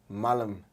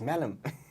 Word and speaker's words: Mallum: mispronouncing his surname because i used to say malam and then one day said why do you say my name like that it's malam well a lot of